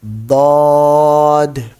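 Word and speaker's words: ض: the upper teeth, so this letter will be pronounced properly. Dod.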